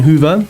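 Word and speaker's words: Hoever: I'm pretty sure it's Kian Hoover. That's how you pronounce his name.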